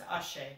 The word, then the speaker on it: Auger: touch some on Felix Auger, or Auger. It depends on, I guess I've heard it pronounced a couple different ways, but Auger Elysium is what I come to gather is correct. So it's Auger.